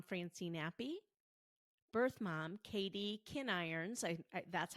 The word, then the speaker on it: Kinirons: episodes, adoptive mom Francine Appy, birth mom Katie Kinirons, that's how you pronounce it, Mejia, and adoptee Allison Olson.